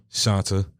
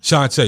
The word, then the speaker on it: Shanta: fast now you miss shanta did i say it right it's shantae excuse me i don't want to mess your name up ms shantay as far as you